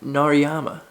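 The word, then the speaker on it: Narayama: number 645 and it is the ballad of narama see I said it right this time yeah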